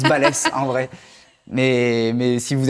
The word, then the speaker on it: Balès: Vous pouvez prononcer balèze si vous avez envie, mais ça se prononce balèze en vrai. Mais si vous avez envie, voilà, c'est mon petit flex aussi. Je dis d'accord, j'accepterai. Si c'est Baileys, par contre, ça me plaira Ah, pas.